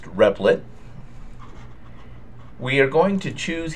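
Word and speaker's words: Replit: and you can get there by going to.it pronounced repet we are going to choose here Java and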